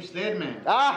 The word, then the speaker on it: Sledman: I thought it was the car club, but I meant the name Sledman. Where did you go with the name Sledman? Well, it rhymes with Ed, so Sled came from my partner.